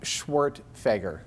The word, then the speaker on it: Schwerdtfeger: For anyone who's curious, my name is pronounced Schwartfeger. Schwartfeger.